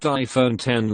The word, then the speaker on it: iPhone X: the new iPhone X pronounced iPhone 10 looks nothing like any